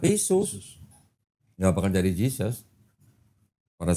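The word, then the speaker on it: Iesous: Kalau orang berbahasa Inggris, baca I-E-S-O-U-S, bacanya gimana? Ya tetap Yesus.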